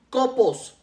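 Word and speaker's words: κόπος: primera de Tesalonicenses 1 viene del griego copos con k copos y con acento en la primer o que a su vez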